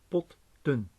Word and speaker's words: potten: Because if we split this into two syllables, we have po and a closed syllable tun, and an open syllable po. And since it's open, the O is pronounced as a long vowel, but we have to have a short vowel. Then what we do then is add a T, an extra T, so that we get potten.